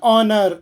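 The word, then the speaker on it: honor: on honest man ಆನ್ ಆನರ್ ಆನ್ ಆನರ್ ಹನರ್ ಅಲ್ಲ ಆನರ್ H silent ಇಲ್ಲಿ ಎಚ್ ಉಚ್ಚಾರಣೆ ಇಲ್ಲ ಅದರ ನಂತರ ವಾವಲ್ ಸೌಂಡ್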